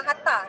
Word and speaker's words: H4774: Okay, dia pronounce dia memang Hatta, tapi kalau kita Google, dia kena Google kedai H4774.